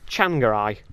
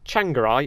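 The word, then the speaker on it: Tsvangirai: this piece of paper apparently his name changai is spelled t SV a n g a r i right out of the words t SV spelled the word chan that's what's that about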